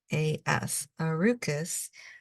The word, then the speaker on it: Arukas: We'll do a little bit of shading, but I just want to spell that for you. So that's R-U-K-A-S, Arukas, which is actually Sakura spelled backwards, and Sakura